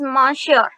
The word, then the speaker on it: monsieur: So monsieur, you can call, I think its pronunciation is monsieur. Monsieur became sir and madame, which were being used by the France people during those days.